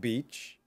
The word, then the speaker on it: beach: So the beach where I run also has a dog beach. And by the way, a female dog is known technically as a bitch, not the same sound.